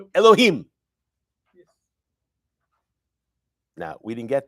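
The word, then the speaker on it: יהוה: But how is Yud Ke Vav Ke pronounced there? It's not pronounced. We don't say Adonai Adonai. It's Adonai Elohim.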